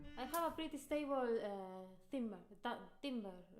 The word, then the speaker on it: timbre: I have a pretty stable timbre. Timbre. How do you say timbre? Timbre. Timbre. How do we say it? Timber is wood. Timber. I don't know. Okay, again. No. Timbre. You see, that's an E.